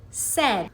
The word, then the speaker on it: said: For example, take the word said. We have three sounds but four letters.